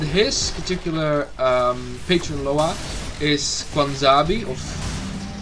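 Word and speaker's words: Bwonsamdi: And his particular patron Loa is Kwanzabi, of how do you pronounce that? Bwanzabi. Bwanzabi is the Loa of the dead.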